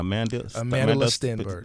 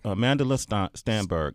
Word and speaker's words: Amandla Stenberg: Amandla Stenberg. Amandla Stenberg.